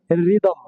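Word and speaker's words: rhythm: 3 নম্বর, আর এর পরে যদি এইচ থাকে, এইচ এর উচ্চারণ হবে না, আর এর উচ্চারণ হবে। যেমন কি আছে আর এইচ ওয়াই টি এইচ এম, এখানে এইচ এর কোনো উচ্চারণ নাই, যার কারণে উচ্চারণটা হবে রিদম, রিদম।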